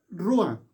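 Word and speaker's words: רוח: encuentra en el hebreo y se pronuncia o se escribe rúa ruán traduce viento esto es lo que significa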